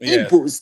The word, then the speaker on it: Igbo: I think that GBO is actually the native, the Igbo language way of pronouncing Igbo. With the G.